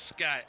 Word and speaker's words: Scott: Scott, is that how you pronounce it? It's Scott, and I know Lincoln's mom and dad pretty well.